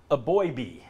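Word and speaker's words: Eboigbe: the red side and we start with Justin a boy B yes that's the pronunciation I love the fact that these guys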